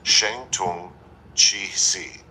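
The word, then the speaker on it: 声东击西: Guerrilla tactical doctrine may be summarized in 4 Chinese characters pronounced Sheng Tung Qi Si, which means uproar in the east, strike in the west.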